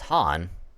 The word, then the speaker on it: Khan: Alright, because in this, the K is silent. So it's not Khatun, it's Hatun. And instead of Khan, it's Han.